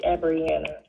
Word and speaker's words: Abriana: And your name is spelled or it's pronounced abriana like a b r i a n a two n's and an a and it's abriana.